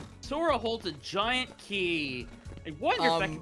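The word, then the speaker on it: χ: It's Kai, pronounced key. Nope, I'm pronouncing it Shy.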